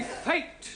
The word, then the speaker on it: fate: Let us take the word F-A-T. Now, that has a flat A sound. Good. But if we add an E to the end of fat, then what do we have?